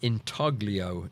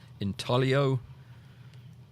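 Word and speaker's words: intaglio: Anyway, uh Inaglio, it's not pronounced that way, though. It's a silent G, isn't it? Inio.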